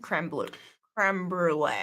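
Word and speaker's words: crème brûlée: I don't know if I've ever had creme brulee. And I even nailed the pronunciation.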